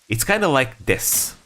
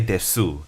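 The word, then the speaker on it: です: It's kind of like des, right? You don't say desu, because desu is very childish, right? You say des.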